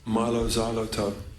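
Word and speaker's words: Mylo Xyloto: Apple they are is pronounced Milo Xyloto like xylophone but you can do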